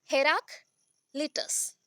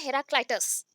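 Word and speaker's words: Heraclitus: हेराक्लिटस, हेराक्लिटस, और बोल सकते हो हेराक्लाइटस, हेराक्लाइटस बोल सकते हो या हेराक्लिटस भी बोल सकते हो, ठीक है। जो भी प्रोनाउंसिएशन में आ रहा है बोल सकते हो, हेराक्लिटस और हेराक्लाइटस।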